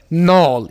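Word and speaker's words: knoll: नॉल, पहाड़ी या गांठ, नॉल, यहाँ पर की के साइलेंट होगा, नॉल।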